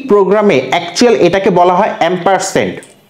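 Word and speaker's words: ampersand: actual এটাকে বলা হয় এম পার্সেন্ট সো তোমরা যদি নরমালি উচ্চারণ করতে না পারো বলবা এন্ড চিহ্ন আর এটার একচুয়ালি উচ্চারণ হচ্ছে এম পার্সেন্ট ওকে গেল সেমিকলন দিয়ে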